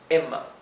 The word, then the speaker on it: Emma: una vocal bien cortita, Emma, Emma, ¿sí? Se pronuncia más la M, que es doble, que la E, Emma, ¿sí?